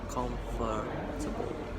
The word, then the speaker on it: comfortable: Although we say comfortable, if you are going to find a syllable, it's comfortable. There's a fur, comfortable, not just comfortable.